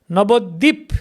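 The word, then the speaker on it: নবদ্বীপ: So similarly, jwa, jor, kotta, tora, rajotto, nabodip. See, dvip, the the and ba, dvip, nabodvip. But in Bengali, you say dip, nabodip, dip. We actually, this ba is not that pronounced. Dip, nabodip.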